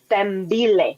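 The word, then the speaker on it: Sithembile: The I and the H are silent. So it's pronounced S T E M B I L E. Stem. Stemile.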